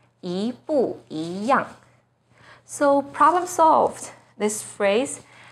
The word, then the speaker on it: 一不一样: So the first E itself should be the second tone, yi bu yi yang.